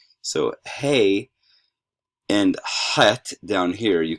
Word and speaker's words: hey: some rough correspondence um hey okay so that's like our h in many ways hey and notice that